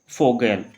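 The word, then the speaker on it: Vogel: Last में आएगा हमारा यहाँ पे फाटर, इसको क्या पढ़ेंगे फै पढ़ेंगे, तो फाटर, इसको फोगेल।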